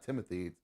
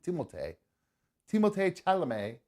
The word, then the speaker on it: Timothée Chalamet: It's not Timothy. It's Timothée Chalamet.